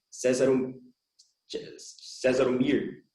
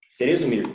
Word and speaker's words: Cerezo Mir: menciona, que é o César Mir. Seria assim a pronúncia, professor? José César Mir? Cerezo Mir. Cerezo Mir, perdão.